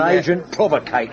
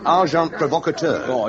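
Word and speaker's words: agent provocateur: They would persevere sending uh well probably you wouldn't know the term and an agent provocator. S amazing pack. The pronunciation however is arjant provocator.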